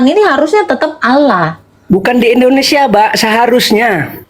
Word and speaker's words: Allah: di Indonesia kenapa jadi O itu pelafalan ini harusnya tetap Allah bukan di Indonesia, Pak.